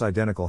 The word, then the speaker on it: identical: Phonetic Alphabet to pronounce identical have in mind that the size of the syllable indicates where the accent or stress is in this case the accent is in the first syllable corresponding to I below are other ways